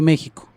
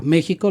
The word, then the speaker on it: México: durante mucho tiempo a México lo escribieron con j cuando la pronunciación es como sh como en shola mico de México Bueno si después le